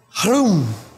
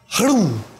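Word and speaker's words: Hroum: Hrum. And it must be a flutter on the tongue. Hrum. Like you're saying whom, but with the R. Hrum. And that is not like me just saying hrum.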